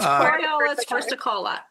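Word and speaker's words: Coriolus versicolor: Yeah, it's Coriolis versicolor.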